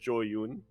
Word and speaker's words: Zoun: and then the first thing he does on stage is say, "My name is actually pronounced Joyun."